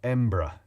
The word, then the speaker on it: Edinburgh: well technically speaking is Edinburgh but embra e-m-b-r-a is how it tends to be pronounced in Ouija Thomas the